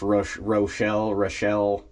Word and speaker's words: Rochelle: a trip over to, I believe it's pronounced Rochelle, R-O-C-H-E-L-L-E, Rochelle, Illinois.